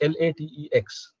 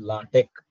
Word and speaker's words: LaTeX: is the spelling is l a t e x people call this latex no that is a wrong pronunciation it is called as latek okay so latch is